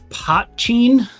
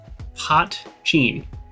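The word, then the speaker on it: poitín: Potcheen. That's how that's pronounced. Potcheen. Because the only word I could think that was even close is like poutine, which is like gravy on French fries.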